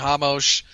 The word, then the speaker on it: Ramos: Oh, Ramos. Jesus Christ. There needs to be an accent mark over the R or something indicating pronounce it like an H.